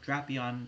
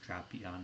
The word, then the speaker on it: Drapion: So pairing that along with Shadow Drapion, and yes, it is pronounced Drapion and not Drapion, with the standard moveset of